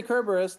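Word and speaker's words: Cerberus: Beast oh cerus because when you say kerberus that is correct in the Greek yes which is the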